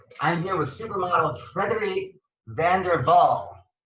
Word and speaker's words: van der Wal: here with supermodel frederick van der vaal right like saying it didn't dutch way van der waals okay vander waal like it's not w like like america right it's like a vlog well we say vanderwaal